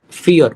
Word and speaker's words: vier: vier, Fear. It's fear. vier. In this.